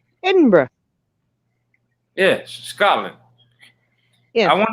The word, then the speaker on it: Edinburgh: get it right she said what'd you say edinburgh yes scotland yeah i want to visit there